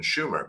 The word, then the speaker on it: Sumer: You know, like, oh, here's, or if you want to say it how they say it, they would have said it would have been Schumer, but so like Sumer appears out of nowhere.